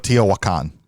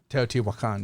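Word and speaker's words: Teotihuacan: Dice Tower and Z Garcia knows how to pronounce this teot wakan teot wakan Yeah Yeah the more you know yeah uh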